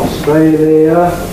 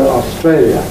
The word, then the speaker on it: Australia: of the bo anyhow it can be slow Australia or compressed faster Australia the fast version rhymes with failure the slow version doesn't so when we ask